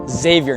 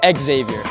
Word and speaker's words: Xavier: It's pronounced Xavier, not Xavier.